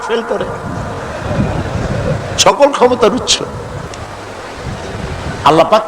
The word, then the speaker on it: আল্লাহ: আল্লাহ পাকের উচ্চারণটা হচ্ছে আল্লাহ পাকের নাম হচ্ছে আল্লাহ মুখটা একটু গোল হয়ে যাবে বলেন আল্লাহ আল্লাহ পৃথিবীতে বিভিন্ন জাতি